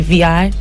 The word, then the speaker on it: VEE: my music and you're like, how do you pronounce your stage name? And I say VI, you're probably not going to forget.